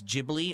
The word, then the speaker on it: Ghibli: It's actually not Gibbly. It's Jibli.